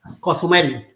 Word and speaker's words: Cozumel: Cozumel.